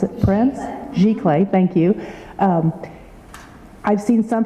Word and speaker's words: giclée: The other thing was the photographers utilized, I'm not going to pronounce it right, but the Giclée, how do you pronounce it? Prints? Giclée, thank you.